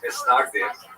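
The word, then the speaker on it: מתנגדים: A series of bans and counter-bans between the so-called opponents, or in Hebrew, Mitznagdim, Ashkenazi pronunciation, Mitznagdim, or to our friends, the Snags.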